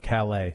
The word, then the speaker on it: Calais: And how was my pronunciation of Calais? Did I do a good enough job this time, mayor? Perfect. Yeah you did. He did an excellent job. It's like Caleb, but Calais quick learner.